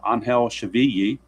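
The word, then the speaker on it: Angel Chivilli: That's how it's pronounced, Angel Chavilli.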